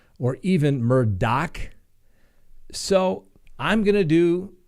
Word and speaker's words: Murdaugh: Now, I see it as spelled as Murdaugh. I pronounce that Murdaugh. I've been told it's pronounced Murdaugh or even Murdaugh.